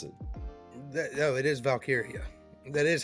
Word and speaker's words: Valkyria: It's Leah Valkyrie. No, it's Valkyria. It's not how they pronounce it. No, it is Valkyria.